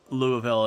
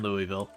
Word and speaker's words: Louisville: I've actually had people in Louisville pronounce it Louisville and Louisville. It's one of those things that has to do with, like, the different accents and all that. But I've heard both Louisville and Louisville from people who are there.